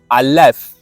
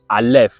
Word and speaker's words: Aleph: So for now, we will just go with this pronunciation as Aleph, right?